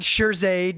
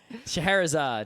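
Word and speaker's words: Scheherazade: that hard to say that word people not sherade not sherad shaherzad most people seem to say sherad the next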